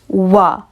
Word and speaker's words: は: It's pronounced wa, and we call it the topic marking particle.